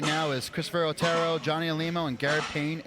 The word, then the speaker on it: Otero: Or Otero is the American name, but Otero. Otero. Is the Spanish pronunciation, which he taught me a few hours ago.